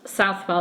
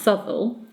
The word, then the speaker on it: Southwell: Roberts Sybil now he's felt south well but south well is normally pronounced subtle he was hanged drawn and quartered at Tyburn